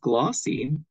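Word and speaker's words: GLAWC: L African-American writers conference g l a WC pronounced glossy celebrates the impact African-American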